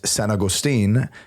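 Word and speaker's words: San Agustín: So, and that, the whole idea of like what locals just, articulate, St. Augustine comes from the Spanish San Agustin.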